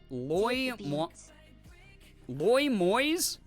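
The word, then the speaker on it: Loimios: If you're unsure of the pronunciation of the new username, it's Loy Moyes? Loy Moyes. It means deliver from the plague, a name that people would call Apollo, the Greek god.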